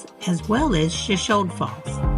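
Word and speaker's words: Shoshone: The locals pronounced the town's name as Shashon with a silent e at the end, which is the difference from the pronunciation of the Shashonyi tribe.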